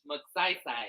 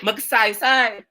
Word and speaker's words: Magsaysay: Magasai? One more time, Chief Sante, who is from the Philippines. I'm getting it straight from the islands. How you say that? Magsaysay. Magsaysay.